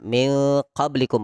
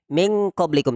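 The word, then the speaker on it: مِنْ قَبْلِكُمْ: Iya Mi qoblikum benar karena ini paling jauh maka kita membacanya sejauh mungkin tapi bukan ng kesalahan kita pemahaman kita selama ini ng jadi tidak ada ng Ning qoblikum tidak juga near qoblikum meskipun itu memang cenderung ng tapi bukan Ende sama-sama praktekkan 123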